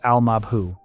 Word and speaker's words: al-Mabhouh: The target is a man named Mahmoud al-Mabhouh, pronounced al-Mabhouh, a senior figure in the militant group Hamas, found dead in his room at a luxury hotel.